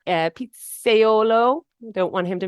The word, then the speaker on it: pizzaiolo: uditi hails from Naples Italy he's an incredible Pizzaiola uh Pizzaiolo I don't want him to make fun of me for mispronouncing that and it's Neo neapolitan pizza we